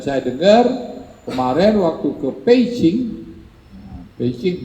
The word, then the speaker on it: Beijing: dengar kemarin waktu ke peijing peijing bacanya peijing kita tulisannya kan Beijing kalau yang bisa bahasa Cina pasti bacanya pe Ching pe artinya Utara Ching